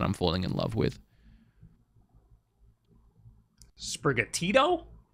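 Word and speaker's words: Sprigatito: falling in love with sprigga tito it's brigatito oh i also like that's also like so different than what i thought the pronunciation was what did you think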